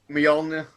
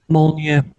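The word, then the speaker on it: Mjölnir: Right, I want someone to pronounce it Mjolnir. correctly. Go on. Mjolnir. Nope. Mjolnir.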